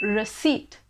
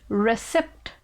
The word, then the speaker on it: receipt: people pronounce it as recept recip but i will have to break your heart it is not pronounced as recept it is actually pronounced as receipt receipt right example we